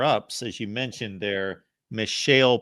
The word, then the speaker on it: Mishael: as you mentioned there Michelle Powell I believe is how you would pronounce his first name 38 tackles two and